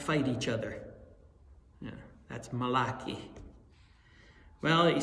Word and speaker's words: Malachi: call the Old Testament from a prophet named Malaki. in the Hebrew. In uh in New York, there was a a church that named themselves after, but they they must have been Italian. They they pronounced it malachi.